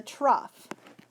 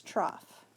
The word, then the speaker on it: trough: you to mark is called the trough sounds like the word cough but it's trough okay and it's the